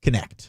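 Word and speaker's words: Knecht: the Tennessee's guy's name is it nich doton nich connect connect I'm with you on that one dude that feels like it should be a silent k but he was one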